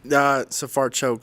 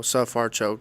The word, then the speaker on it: Sfarcioc: Sfarcioc. So it's kind of like S-U-H, sa, then far, F-A-R, and then choke. So Sfarcioc is the most simple way for me to put it, like that.